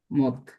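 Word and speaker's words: مد: হল আরবিতে হল তো মাদ্দুন মানে হলো লম্বা করা। দীর্ঘায়িত করা। আরবি আরবি শব্দ মদ। মাদ আর কি আমরা মদ বলি বাংলাতে। আরবি উচ্চারণ হলো মাদ।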